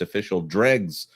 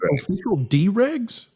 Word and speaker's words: Official Dregs: Also, Jonas, it's Official Dregs. Forgive me. I will try to fix that in the future. What did you pronounce? How did you say it before? D-Rags. You said Official D-Rags? Yeah, as in D.